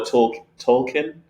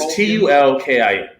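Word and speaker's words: tulkun: Now, they are called the Tolkien. The Torkin? It's Tulkin.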